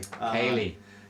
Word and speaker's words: Ceilidh: C-E-I-L-I-D-H. There is no G. G. And it's an I. Kaylee.